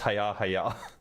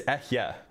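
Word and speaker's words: אהיה: It's literally not pronounced Haya. It's Ehye, right? That's what the first word is.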